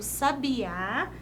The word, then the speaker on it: Sabiá: Sabiá lá no finalzinho vamos ver a diferença sabia tá vendo aqui Eu até tentei deixar um pouco mais destacado sabia e Sabiá percebam perceba que uma sílaba recebe acento tônico sendo portanto chamada sílaba tônica ou seja se a